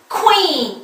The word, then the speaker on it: queen: 근데 그러나 다 따로 다 하기 때문에 한 번에 우리식으로 퀸 이렇게 되지는 않고 queen 이렇게 된다라는 겁니다. 네, 코 하는 발음들 익혀보시고 자, 하려니까 어때요? 아무래도 힘이 들어갑니다. 힘없이 퀸 이렇게는 안 되고요.